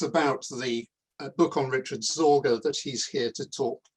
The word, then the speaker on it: Sorge: my hero for a moment, Richard Sorge, for pronouncing his name correctly. He's Sorge, strangely enough, in German means anxiety, which is